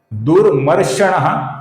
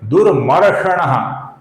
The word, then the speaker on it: दुर्मर्षण: दुरमषण गलत उच्चारण है। दुरमषण यह सही उच्चारण है।